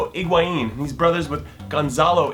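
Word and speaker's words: Higuaín: ingin feder Rico iguin to say it right his name is federo iguin and he's Brothers with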